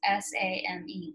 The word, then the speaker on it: same: So remember, come, same, and take all have the silent E at the end. So it changes the vowel to make another sound, and you don't say the E on the end.